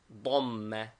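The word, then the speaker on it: ضمة: The vowels are fatha, a, pronounced like the a in hat, and dhamma, u, as in bull, both written above the letter, and kasra, I, as in hit, written below the letter.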